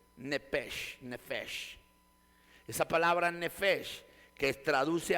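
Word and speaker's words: נֶפֶשׁ: proviene del hebreo nefes otros le llaman nep aunque aunque cuando usted aprenda pronunciación de hebreo es nefes porque la p se convierte en una F en los idiomas hebreos y en los idiomas griegos y y en el idioma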